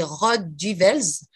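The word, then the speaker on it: Rode Duivels: diables rouges en néerlandais ça se dit rod du welz au néerlandais est pas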